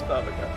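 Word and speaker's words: Bhavacakra: Dude, is that how you pronounce that? I always say baklava. Baklava's. Knockback. I always say baklava. Baba Chakra. It's Baba Chakra.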